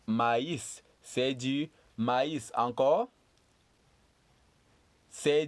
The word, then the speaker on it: maïs: So this last word is pronounced maïs.